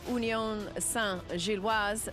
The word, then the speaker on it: Union Saint-Gilloise: Mo Salah and Liverpool welcome Union Saint-Gilloise to Anfield.